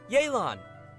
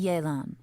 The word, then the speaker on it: Yelan: Call me Yelan. I think you may So that's need how my you help. pronounce it, And I just so Yelan.